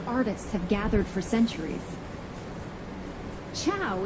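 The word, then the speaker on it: ciao: have gathered for centuries Chow is how you say hi I can't go behind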